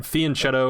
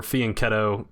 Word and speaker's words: fianchetto: something like that Fen Fen chetto or Fen ketto it's an Italian word so I guess it depends on your pronunciation I was going to